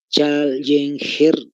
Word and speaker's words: Challenger: la imagen chall iner entonces Challenger se le pronuncia con doble L y G de gato al final Challenger para que me entiendan y esta eh este